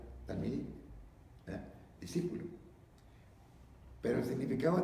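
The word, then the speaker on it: תלמידים: Ahora, hay una palabra en hebreo que es talmidim, bueno, así se pronuncia, se escribe pues con pictografía hebraica, pero se pronuncia talmidim, discípulo.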